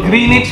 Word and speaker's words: Greenwich: Kasi sabi ng teacher ko, Greenwich pala ang pronunciation. Walang W.